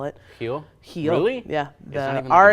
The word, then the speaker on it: Rio: Rio ins her heel as they call it heal he only yeah yeah are at the beginning of the word there is pronounced like an H interesting yeah everything's pronounced